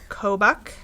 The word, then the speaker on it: Kobuk: I gotta go find the hat pattern now, because I'm going to not pronounce it right. Or Kobuk.